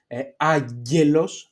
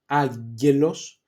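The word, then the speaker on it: άγγελος: That the sound is a g, like for example, aggelos, aggelos, or aglika, aglika English.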